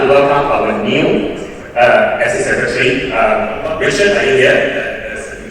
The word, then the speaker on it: APSCE: How does this abbreviation be pronounced? By some of you missed last year's opening ceremony. Those are another training. It's APSCE. It's not APSCE. It's APSCE. Yeah. So pronounce properly and you can from insiders. It's APSCE. Now, first of all, we'd like to thank Jessie.